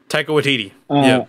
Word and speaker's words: Taika Waititi: I didn't like Thor as a character for a while until I saw Ragnarok, and I can never pronounce his name. Taiti what? The director. Taika Waititi.